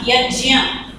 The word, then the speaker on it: यज्ञ: तो इसको शुद्ध उच्चारण तो है ज्ञ, यज्ञ, लेकिन हम लोग बोलते क्या है?